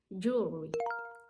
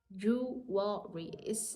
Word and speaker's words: jewelry: I know it's difficult the first word is jewelry jewry it seems like you're saying jewry jewry so if you want to say it fast jewelry yes okay the